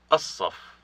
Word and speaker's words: الصف: الصف الصف. There is no L sound here because it has assimilated to the sod, one of a group